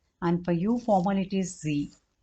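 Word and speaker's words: Sie: for there it is z and this as a small letter then for you all this is also formal this is also capital s i e this is the pronounced as Z so this both are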